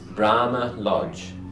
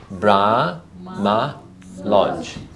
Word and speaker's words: Brahma Lodge: Listen, Brahma Lodge. No, 3. Very good. Very good, Betty. 3. So it's Brahma Lodge. Brahma Lodge.